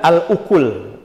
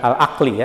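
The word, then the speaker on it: الأكل: yang membatalkan salat juga al-ukul ini bacanya bukan alaqli ya tapi alukul beda kalau aqli Apa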